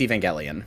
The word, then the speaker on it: Evangelion: I always say I I say Evangelion. I say Evangelion. I say Evangelion. like that. It's It's Evangelion.